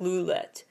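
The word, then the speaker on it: Lovlet: Cherry bullet their fandom lulet which is supposed to be pronounced actually more like roulette like louette and so that's a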